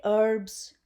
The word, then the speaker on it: herbs: why did I say herbs because H is silent you cannot say herbs or herbal that is wrong you have to say herbs or herbal tea peppermint herbal te I shall